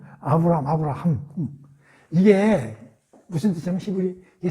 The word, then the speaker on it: 아브라함: 아브라함. 이게 이제 히브리 말이잖아요. 여기에 이제 이 H 또는 이 히읗자. 이게 이제 우리가 이제 뭐 히브리 말을 공부하는 건 아니지만 약간 콧소리 비슷하게 들리잖아. 아브라함.